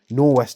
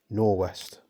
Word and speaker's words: Norwest: Also in the box from Northwest Airsoft. I'm very sorry. Is it Norwest? Norwest. So not Northwest Airsoft, it's Norwest. Very easy to mistake there though, because it's spelt so similar.